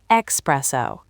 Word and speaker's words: espresso: I used to say espresso all through high school. There's an X in express, so your brain just wires it that way. I get the logic, I really do. You're expressing the coffee from the machine, right? But the word is Italian. It's espresso. E-S-P-R-E-S-S-O. No X.